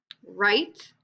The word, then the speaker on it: write: Write.